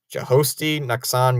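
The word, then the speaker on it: Jhostynxon: in left Jost Garcia I always forget to say his name correctly josti Nan Garcia that's how I believe it's said I don't know too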